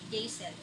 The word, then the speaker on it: Jaisel: Hindi Jaxel, hindi Jexel ang pagbigkas sa aking pangalan, kundi Jaisel.